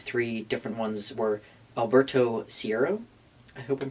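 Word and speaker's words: Caeiro: time were these three different ones were Alberto Sierro. I hope I'm pronouncing that right.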